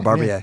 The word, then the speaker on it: Barbier: Sal Barbier, yeah.